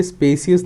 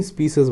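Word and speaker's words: specious: सो pronunciation में याद रखिएगा, स्पेसियस नहीं बोलते हैं, स्पीसीज बोलते हैं, SPI।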